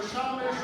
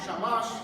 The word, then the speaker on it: shamash: The real reason why we use the shamash or shamish or shamis, shamash, that's how you say it.